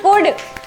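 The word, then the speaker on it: could: वुड, शुड, कुड। वाह, वाह, वाह! एल is silent.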